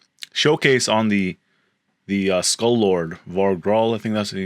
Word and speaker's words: Var-Gall: So Skull Lord Var-Gall. That's how you pronounce his name, not Valar.